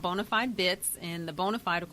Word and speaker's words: BONA5D: well excited about my first book it's called bonafide bits and the bonafide of course is today